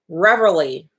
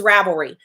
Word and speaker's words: Ravelry: So the website, Revelry, I might be mispronouncing it. Ravelry. It's Ravelry. They actually did this they